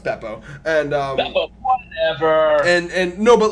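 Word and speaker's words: Bepo: a bear oh yeah well it's better it's pronounced Beppo and and and no but like one of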